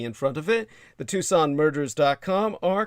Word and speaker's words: Tucson: spell it as tuxen TS n put the word the in front of it the Tucson murders.